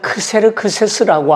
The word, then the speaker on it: 크세르크세스: 아하수에로 왕은 페르시아의 왕으로서 일반 역사에서는 크세르크세스라고 하는 이름으로 등장합니다. 아하수에로는 히브리식 발음이고요. 크세르크세스는 헬라식 발음입니다.